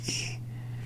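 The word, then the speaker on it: い: ah you're can be learning e or I which is e so you would pronounce it like that e and then this one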